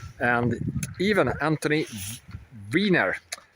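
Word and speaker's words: Weiner: and even Anthony Viner. So he is spelled with EI but it's pronounced Viner just like a We'll come to more later.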